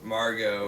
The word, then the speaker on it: Margot: Margot. It's Margot. It's Margot. The T is silent.